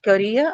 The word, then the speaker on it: career: In the case of career, again, same thing happened because the second syllable had a diphthong in it.